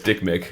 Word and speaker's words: Dikmik: I think it's how you pronounced it. Is that one name or two names? It's one name, no space. Okay. Dikmik. Okay, it's Dick Mick.